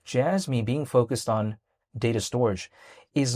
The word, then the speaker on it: Storj: It's spelled STORJ, but some people call it storage.